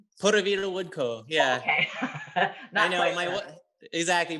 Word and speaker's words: Puravida Wood Co.: Am I pronouncing it right? Puravida Wood Co.